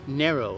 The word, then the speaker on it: Nero: oh Nero yeah so you said narrow though yes so um kids that I hear your pronunciation here we usually pronounce that Nero but I want to say it the way you say it so narrow yeah that's the African name that's the African name